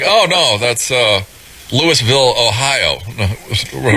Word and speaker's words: Louisville: place in Lewisville Ohio looks like Louisville but it's it's pronounced Lewisville up here in the Northeast and uh really great